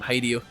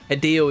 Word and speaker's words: Hideo: I will say his name wrong. I always call him Hideio. Hideio. Hideo.